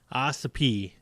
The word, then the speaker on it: Ossipee: you ready for it Ossipee new hampshire that's how you pronounce it okay is this gonna